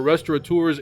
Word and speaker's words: restaurateur: note that they are restaurateurs in their Instagram bios. Simon is one of the few who doesn't spell it with that obnoxious N, restaurateur. That is not a thing. It makes no sense.